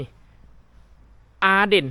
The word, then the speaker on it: Arden: สถานี ท่า รถ นี่ อาเดน เห็น บ่ พี่ น้อง ป้าย น่ะ อาเดน แต่ ภาษา อ่า เดนมาร์ก เขา อ่าน ว่า อ้าน จัก เป็น น เลย คือ อ่าน ว่า เป็น อ้าน อ่า อัน นี้ ก